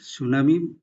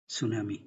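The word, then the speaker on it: tsunami: Peter উচ্চারণ হচ্ছে না সুনামির মত আগে টি দিতে হবে কিন্তু টি এর উচ্চারণটা হবে না তাহলে নিয়মোনিয়া বানানটা কি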